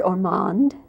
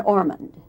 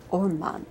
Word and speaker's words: Ormond: them to it I've heard orand and Ormand I think the the latter is probably an American version of what I say orand some sometimes British people pick me up on why do you pronounce it orand you know and you say because it's my name it's my name I